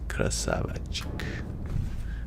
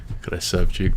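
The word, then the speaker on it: Красавчик: Hadzuki Krasavachik. I already forgot how to say it. Whoops. Krasavchik. Hadzuki Krasavchik.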